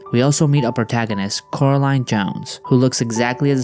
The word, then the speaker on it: Coraline: YB let me guess Coraline is visibly annoyed by YB Because he believes that she's a water witch he was also unable to pronounce her name properly Coraline Caroline Wood Coraline Caroline Jones their